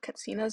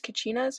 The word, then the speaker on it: katsinas: has a wall of katsinas on display. They are sometimes referred to as kachinas, but as Hopis provided a pronunciation of the name, as the CH sound is not part of their dialect.